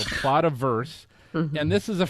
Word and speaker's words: Plotaverse: And basically what it is, so PLOTA, Plato, I don't even know how you pronounce that. Plotaverse, Plotiverse, I bet. Yeah. PLOTA, Plotaverse. and then Plotaverse. VERSE. Yeah, Plotaverse. So Plotaverse.